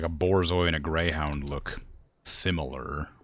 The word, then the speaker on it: borzoi: I also thought it was pronounced bourgeois, because I thought it was a French dog.